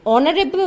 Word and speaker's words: honorable: Okay, we also write an honorable man, since ho is pronounced as o.